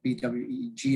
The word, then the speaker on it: Bouygues: we are weak and it's about bwg as if you were pronouncing it we are a french